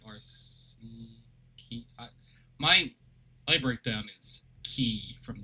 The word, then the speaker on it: Arceus: Apparently, the person who made Pokemon Arceus said, and everyone who has been involved in creation, it says it's pronounced Arceus. Or is it RC? Key?